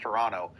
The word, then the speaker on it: Toronto: No, it's pronounced Toronto. Our literal head of government calls it Toronto.